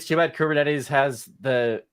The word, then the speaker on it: Kubernetes: So I think it's like, it's not Kubernetes, it's like Kubernetes is like how you say it in Greek.